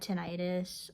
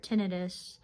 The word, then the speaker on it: tinnitus: It's just something that I've gotten used to because when I had tinnitus or tinnitus, depending on however you pronounce it, um, I like having